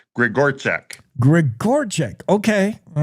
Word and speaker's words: Grzegorczyk: Well, it is Grigorchak. It is spelled Grzegorczyk, but it's Grigorchek.